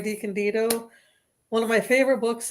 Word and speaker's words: DeCandido: Well, first of all, it's pronounced DeCandido.